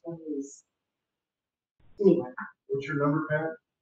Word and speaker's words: Alice: Elise, A-L, it's spelled Alice, A-L, but it's pronounced Elise.